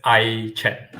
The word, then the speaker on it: AiChat: We pronounce as AiChat.